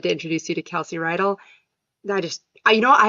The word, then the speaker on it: Reidl: your last name Kelsey you actually pronounced it perfectly most people say ryell because they've watched Greece before and the high school is ryell high so I usually get that but you said it right it's like a horse